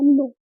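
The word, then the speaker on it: know: नो, या फिर इसमें क्या होता है के जो साइलेंट होता है। नो, नो मतलब होता है जानना।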